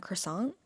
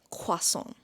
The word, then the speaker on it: croissant: So, in English we say croissants. Do you want a croissant? Croissant. and French. I am no one to teach you French honestly, but I feel like I have this pronun pronunciation. Okay, like I think I got this pronunciation. So, let me teach you. It's quason.